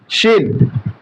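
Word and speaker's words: ش: তাহলে সেখানে আমরা শিন পেয়ে গিয়েছি। এখন এই হরফটি উচ্চারণ করব জিহ্বার মধ্যখান, তারপর উপরে তালুতে লেগে দেব শিন, এবং মুখ ভরে উচ্চারণ করব, মুখটা ভরে উচ্চারণ করব শিন।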